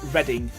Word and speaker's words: Reading: one the word reading if it's a place it's pronounced reading why exactly Harrison it